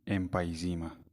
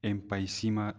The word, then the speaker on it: emphysema: पढ़ने जा रहे हैं और ये है एम्पाइजीमा, या बाज़ लोग इसको एम्पाइसीमा से भी प्रोनाउंस करते हैं। तो आप लोग एम्पाइजीमा कहें या एम्पाइसीमा कहें, इससे कोई फ़र्क नहीं पड़ता।